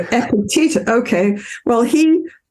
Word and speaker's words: Epictetus: Is it Epicletus or Epictetus? No wonder I couldn't say it. Epictetus.